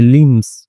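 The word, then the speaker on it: limbs: लिम्स ट्रेंबल्ड ठीक है तो यहां पे बी साइलेंट होता है क्योंकि एम के बाद में बी आता है जैसे कॉम होता है ठीक है कंघी तो उसमें भी साइलेंट होता है वैसे यहां पे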